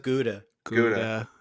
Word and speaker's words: Gouda: Guda. Guda. Guda. Yeah. Which isn't that pronounced some other way? I think it's pronounced koda if you're doing it.